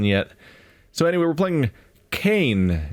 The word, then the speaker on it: Cayne: so anyway we're playing Cain instead I think it's pronounced that way ca YN e it's a isometric point-and-click